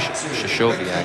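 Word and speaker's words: Krystkowiak: Well, people pronounce that name a lot of different ways. Shashiaak, I think, is the correct way.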